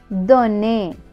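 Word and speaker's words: donne: என் தோ என் நே தொனே இதுல வந்து கடைசிில இந்த எக்கு வந்து நாங்க உச்சரிக்க மாட்டோம் ஒரு சின்ன இதோட தொன்னே அதுல இதோட முடியும் எல் இ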